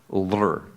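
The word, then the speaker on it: ऌ: That's a vowel L, and it's pronounced lr.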